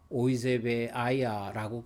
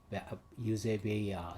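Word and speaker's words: εὐσέβεια: 이 경건은 독일 헬라어 성경을 독일어식 그렇게 읽으면 오이제베아야라고 그렇게 오이제바야라고 그렇게 이야기를 합니다. 영어로는 유제베야 이렇게 발음을 하기도 하는데 뭐 지금 그 헬라 사람들은 어떻게 발음하는지 보다는 이 고전어기 때문에 고전 헬라어이기 때문에 각 영어는 영어식대로 독일어는 독일어식대로 그렇게 얘기하면 제가 독일에서 헬라어를 더 많이 배웠기 때문에 독일어식으로 그렇게 합니다.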